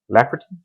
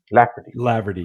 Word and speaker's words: Laverty: Bryan Jon Laverty, Lafferty, Laverty, yeah, Laverty.